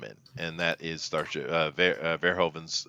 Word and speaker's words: Verhoeven: However, there is at least a movie I love him in, and that is Starship Verhoeven's. It's Verhoeven, right?